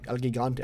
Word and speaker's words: El Gigante: El Gigante. Ah, there we go. El Gigante. That's what it's pronounced as.